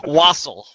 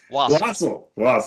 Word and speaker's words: wassail: Wassail. Wassail. Mhm. Thanks for pronouncing that correctly because I had no idea.